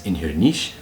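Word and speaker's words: Inbhir Nis: be Sonia standards gallic so Inverness in Scotland normally we refer to it as inher Niche right but at hershja they would say Niche instead of inher niche nowadays some Scholars even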